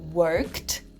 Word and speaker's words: worked: Le ED n'a pas une syllabe propre, il est mangé avec le reste du mot et donc on a un son kt à la fin.